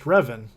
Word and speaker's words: Ruthven: Met someone with the first name Ruthven, and it was pronounced Revan.